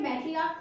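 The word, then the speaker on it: matriarch: इसी तरीके से हम एग्जांपल ले सकते हैं मैट्रियार्क का। इसकी भी प्रोनाउंसिएशन लास्ट में का होती है, इसलिए इसका भी प्लूरल फॉर्म चेंज करते टाइम हम इसमें सिर्फ S को ऐड करते हैं।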